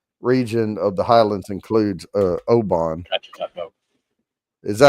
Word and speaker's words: Oban: And then the Western region of the Highlands includes Oban. Is that how you say that, Oban?